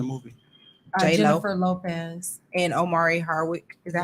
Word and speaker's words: Omari: And Omari Hardwick. Is that how you Yes. pronounce his name? Mhm. Amari.